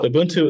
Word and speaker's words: Ubuntu: place to start um any other questions uh Ubuntu is spelled ubu NTU so what does do you